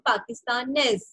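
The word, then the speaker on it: pakistanais: करना है okay so इफ यू सी इन द पाकिस्तान ने the last letter is एस तो आपको एस लीव करना है आपको आई तक प्रोनाउंस करना है पाकिस्तान ने बट इन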